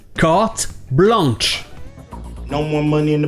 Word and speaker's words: carte blanche: Mais le problème, c'est que le son « en » n'est pas super commun en anglais. Donc ils vont prononcer le N. Carte blanche.